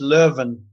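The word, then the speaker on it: Leuven: played in in a place called is it louen is that how it's pronounced uh Lan is the French pronunciation but it's actually in Flanders and it's Len so uh Lin's about 15 kilometers from Brussels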